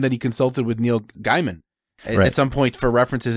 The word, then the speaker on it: Gaiman: It's Gaiman. I always mispronounce it.